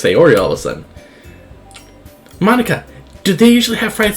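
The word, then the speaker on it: Monika: new for people because it's writing your name Monica that's how you say my name also that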